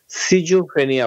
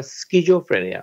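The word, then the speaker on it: schizophrenia: জনসংখ্যায় সমাজে, সেটা হচ্ছে স্কিজোফ্রেনিয়া। এটাকে আমাদের বাংলাদেশে ব্রিটিশ উচ্চারণে সিজোফ্রেনিয়া বলে, কিন্তু এটার মূল উচ্চারণ হচ্ছে স্কুল। আমরা যেভাবে স্কুল বলি SCH, স্কুল, সেই একই উচ্চারণে এটা স্কিজোফ্রেনিয়া।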